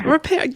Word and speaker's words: Ripert: And then I love the chef tips from Eric Ripert. I never can pronounce his name correctly. Is it Ripert? You got it totally right. It's Eric Ripert. Ripert, yay.